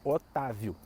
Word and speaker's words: Otávio: Então, Otávio. As sílabas são o, tá e viu. Se a sílaba tônica é o tá, né, para ser Otávio, tem que ter um acento.